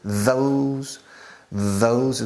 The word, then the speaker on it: those: Are those, fijaos en la pronunciación, la TH, those es un ceceo español, those, activando las cuerdas vocales al mismo tiempo.